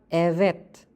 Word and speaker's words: evet: Tetapi jika huruf V dihapit huruf vokal, maka dibaca seperti W. Contohnya ada evet, yang artinya iya.